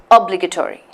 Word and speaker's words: obligatory: again separated into two it's actually a five-syllable word let's look at the break-up it's Oh Oh plague two three one two three four five obligatory okay and so obligatory so